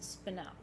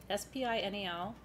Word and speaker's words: spinel: So what you have to put in your notes is spinel, S-P-I-N-E-L, it's spelled like it sounds. If you say spinel or spinol, we will still count you.